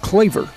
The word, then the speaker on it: Kloever: Spelled Kloever, but pronounced Cleaver.